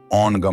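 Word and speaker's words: ॐ: ध्वनि बीज मंत्र आज्ञा चक्र से संबंधित ध्वनि या मंत्र ओम है जिसका उच्चारण ओनगम होता है।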